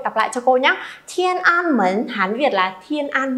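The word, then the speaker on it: 天安门: Thiên An Mến, Hán Việt là Thiên An Môn.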